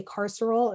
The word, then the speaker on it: carceral: word like incarceration so if you heard me say carceral it's kind of weird it might not sound like how it's spelled um but it's it's